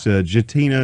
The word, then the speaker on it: Gattina: that no that's good gentina it's italian so the g more is like a j i guess you'd say all right well very